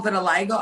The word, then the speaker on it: vitiligo: Well, vitiligo, I'm glad you asked that question because a lot of people, and you pronounced it correctly, so thank you.